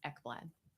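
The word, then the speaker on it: Ekblad: your last name again e kbl a d is how it's spelled and it's pronounced eblad never would have guessed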